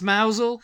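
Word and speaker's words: Mousehole: maybe I would but no but no it's mousel and it's hin the next one is d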